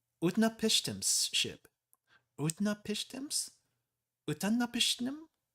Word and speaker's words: Utnapishtim: It's Utnapishtim. Utnapishtim's ship. Utnapishtims? Utanapishtim?